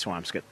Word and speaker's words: Swampscott: comes up the question is it Swampscott Swampscott I think it's swamps get but you know I'm a Malden guy by trade so I probably shouldn't go through any uh pronunciations of mine but it's uh I eat scallops not scallops and it's and it's swamps good yeah I'm a swampscape